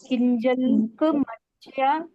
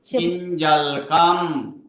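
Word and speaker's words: किञ्जल्कम्: क है ना कि किंजल म्या चम मधुता भोजस किंजल का माचम्य माचम्य माचम्य मोदमता अंबजस किंजलम नहीं किंजलकम किंजलकम माम्या आधा तो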